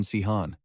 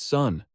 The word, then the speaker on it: Sun: "His name isn't Sihan. They keep getting his name wrong." The group lifted him, tossing him into the air. "Captain Sihan! Captain!" she shouted to correct them. "I told you, his name is Sun, not Sihan. It's Sun."